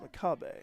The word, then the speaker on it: McCabe: I've seen a McCabe, and way it's spelled MCCABE, but it's pronounced Makabe.